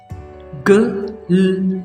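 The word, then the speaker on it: glue: So don't try to pronounce you इन it, this is ऊ। इसी तरह ग, ल, ऊ, ग्लू, एंड ठ, र, ऊ, ट्रू।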